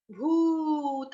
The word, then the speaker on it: भूत: हैं, सर्व, सर्व, सर्वभूत, भूत, बड़ा ऊ, भूत, इसको भूत नहीं कह देना।